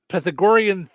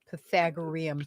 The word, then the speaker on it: Pythagorean: Um I'm still waiting to use the uh P pythagorian theorem. Pythagorean.